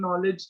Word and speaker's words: knowledge: K is silent in knowledge.